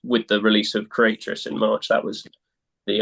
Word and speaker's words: Creatress: cycle so it's it's with the release of creatress in March that was the um yeah the